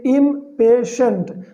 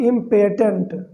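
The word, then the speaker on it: impatient: इसको पढ़ेंगे इम्पेशेंट, नॉट इम्पेटेंट। ठीक है, इसको स्पेशली नोट कर सकते हैं, इसका प्रोनाउंसिएशन होगा इम्पेशेंट।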